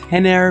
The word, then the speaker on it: Renner: chose today is called Henner yeah it's pronounced Henner because in Brazil R is pronounced as H if you didn't know